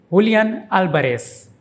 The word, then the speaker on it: Álvarez: And the ending is like S, not Z. Julián Álvarez.